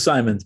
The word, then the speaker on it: Simons: I'll make sure I'm pronouncing your name right. Oh, it's Simons, but Simons.